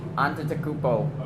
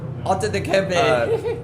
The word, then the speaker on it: Antetokounmpo: Giannis, still don't want to pronounce his name. Antetokounmpo. There you go. You got it. Giannis Just do it like Shaq does it. Antetokounmpo.